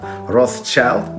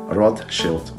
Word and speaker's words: Rothschild: yish rotus shield and together Roth Shield it's right in English they we pronounce Roth child but it's not correct rot Shield this story is about